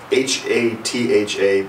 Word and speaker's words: hatha: H-A-T-H-A, pronounced hatha yoga.